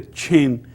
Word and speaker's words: Qin: a review about the Qin Dynasty and the Qin Dynasty this as I told you this Q is pronounced as ch so the Qin state